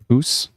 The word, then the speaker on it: Puss: Oh, it's more like Poos. Oh, when people write it out, P-U-S-S, it's kind of spells pus.